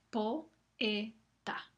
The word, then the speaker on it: poeta: Ahora sabemos que poeta, la O y la E se pronuncian con la misma duración.